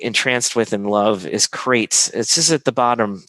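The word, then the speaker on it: Qrates: with and love is crates this is at the bottom that you can see at this this slide right here q-r-a-t-e-s it's pronounced crates i met the one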